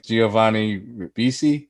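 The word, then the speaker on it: Giovanni Ribisi: uh i can't say this guy's last name giovanni rabisi this is how you say it and yeah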